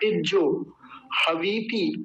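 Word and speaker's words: इज्जोहवीति: देखिए इज्जो लिखा हुआ है, ये इज्जो, ज आधा, ज पूरा और ओकार, इज्जो। हवीती, हवीती। वकार पर दीर्घ इकार बड़ी की मात्रा है, तकार पर ह्रस्व इकार छोटी की मात्रा। तो ध्यान रख लेंगे, इज्जो हवीती, इज्जो हवीती। मेरे साथ बोलिए, इज्जो हवीती।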